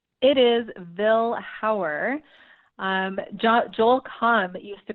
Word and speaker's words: Vilhauer: Are there people in your extended family that pronounce your last name differently, or is everybody universally agreed that Vilhauer is how we say it?